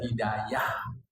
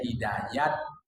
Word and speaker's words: hidayah: Di Indonesia ini ada hidayah. Ada hidayat. Hidayah cara sebut Arab, hidayat cara sebut Persia, garis miring Iran.